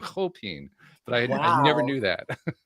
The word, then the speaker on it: Chopin: So apparently that's the correct pronunciation of his name, Chopin.